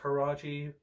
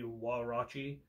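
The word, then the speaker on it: Huarache: now I found out that that's actually not pronounced karate everyone called the karate but exactly Watchi and yeah definitely give them a try that's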